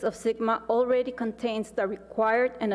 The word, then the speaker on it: SGMA: One short month later, Governor Brown signed the Sustainable Groundwater Management Act, SGMA, pronounced SGMA.